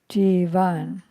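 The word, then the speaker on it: jīvan: Whereas jivan has a line over the A, so it's jivan.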